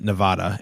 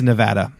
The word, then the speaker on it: Nevada: in um to Nevada and pronounced it Nevada and somebody corrected him or lots of people corrected him and he told them like wrong yes he told them they were wrong so wrong it's Nevada um and yeah we